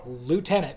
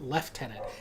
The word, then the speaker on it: lieutenant: Well, okay, so the word lieutenant is a French word, but Americans Okay. say lieutenant because it's spelled lieutenant. Lieutenant. Yeah. For some reason, the British have to fuck it up and call it lieutenant.